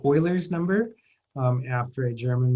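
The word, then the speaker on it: Euler: and it's also called Oilers number um after a German mathematician named Oiler it looks like it should be pronounced but since it's in German it's pronounced a little differently EU for Oiler okay the natural exponential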